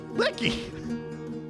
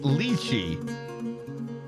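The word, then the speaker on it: lychee: off it's pronounced leachi no if you have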